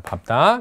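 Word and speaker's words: 밟다: 밝다 이래야 되는데 얘만 밥다가 돼요. 뒤에 게 발음되는 거야.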